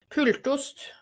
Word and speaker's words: Pultost: You said you pronounced it differently the first time. Pultost.